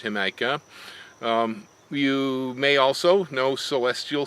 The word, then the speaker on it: Jamaica: If you eat in Mexican restaurants, you know that red drink called Jamaica, or it's spelled Jamaica, but it's pronounced Jamaica.